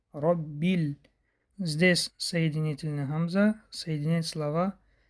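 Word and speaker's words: رَبِّ: две гласов тянем дальше Робби буква ба с тадем удваивается ро здесь читается твёрдое по причине фатха ро не ра а ро Роби здесь соединитель Хамза соединять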